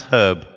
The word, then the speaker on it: herb: house Brooke house now pronounce herb like some guy named herb oh all this stuff you put in a soup and herb now why do you drop that H herb I have no